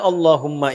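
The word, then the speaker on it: اللهم: Maka adabnya ketika diucapkan Allahumma itu jangan meninggi.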